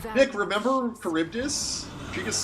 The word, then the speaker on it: Charybdis: Oh, and now we're fighting Charybdis. Charybdis. Nick, remember Charybdis? She just said it. That's how you pronounce it.